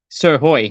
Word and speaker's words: Srhoj: a waa for w star draft prospect Caitlyn sir Hoy Caitlyn thanks for going on thank for having